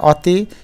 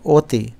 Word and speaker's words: অতি: ও এবং ঔ আছে অতি শব্দের সঠিক উচ্চারণ আছে অতি অতি না এটা আমরা যদি উচ্চারণ করি তাহলে হয় অতি কিন্তু সঠিক উচ্চারণ হচ্ছে অতি অর্থাৎ অধ্বনিটা সংবৃহিত হয়ে অতি হয়ে যাবে দ্বিস্বরধ্বনি দুইটি চার শব্দের